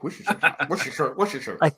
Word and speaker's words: Worcestershire: Hey, you are one of the first people from below the Mason-Dixon line to actually pronounce Worcestershire sauce correctly. Worcestershire.